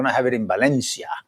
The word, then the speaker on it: Valencia: And we're going to have it in Valencia. Well, Valencia, if you want to pronounce it, how the locals do. Valencia. And then it's a conference where we just go.